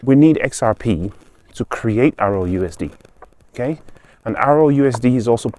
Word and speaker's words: RLUSD: Try saying RLUSD really quickly. It sounds like ROUSD or ROUSD.